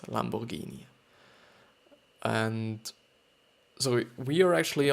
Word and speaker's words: Lamborghini: driving with our Lamborghini Lamborghini which is out actually I think pronounced like this Lamborghini and so we are